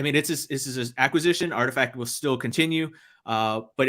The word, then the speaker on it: RTFKT: Because it's literally RTFKT, and I'm like, I don't know what that spells. Somebody had said, "Oh, it spells Artifact."